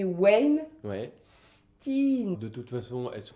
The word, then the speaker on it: Weinstein: qui est cette personne hervé weinstein med ali c'était plus proche de ta première impression c'est wayne tine de toute façon est